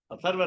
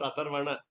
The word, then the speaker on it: Atharva: Atharva Ragasya, not Atharvana. Atharvana, it becomes what we call Shakti Bhakti, Atharvana. That we know, actually the print also might be wrong. One extra letter is a syllable. So Atharva Ragasya. But basically, Nakaranta Pullinga Shabda. Last letter is M for Atharva. Generally, we make always mistake that we Atharvana Veda. We always say Atharvana Veda.